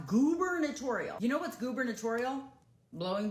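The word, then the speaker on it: gubernatorial: I don't care that they spell it with a U instead of two O's. The word is pronounced goober notorial.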